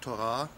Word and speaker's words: Tora: für Hebräer so kostbare Wort torora Betonung auf der letzten Silbe groß die Psalmen 1